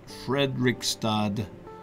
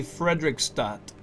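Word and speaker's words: Fredrikstad: j jay bari frederick frederickstad no not the d sound frederick stott yey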